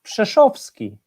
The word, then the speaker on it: Przeszowski: your surname please it's i i i believe it's quite easy to spell it's just shovsky it's not easy at